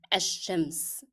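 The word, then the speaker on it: الشمس: There is no lam here. In my pronunciation of the word, I drop the sound of lam, and that's because it is followed by a letter carrying shadda. When I find a shadda letter following lam, the sound of lam will be dropped in pronunciation.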